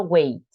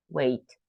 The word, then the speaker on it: weight: letter three letters together we don't pronounce g and H we just pronoun we just pronounced T so wait wait price Dimensions bodyy Life